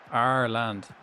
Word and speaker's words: Ireland: Arland.